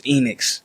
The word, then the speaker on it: Enoex: It's Enix, but it's spelled E-N-O-E-X.